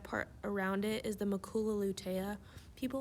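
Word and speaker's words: macula lutea: then the red part around it is the makula lutea people like to say hakuna matata to remember that but it's it's a good way to remember it but just remember the pronunciation is maku lutea and then our optic disc in the back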